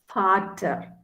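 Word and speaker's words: Vater: you have to just take the um starting pronunciation for so v a t e r is father father means father in german okay so father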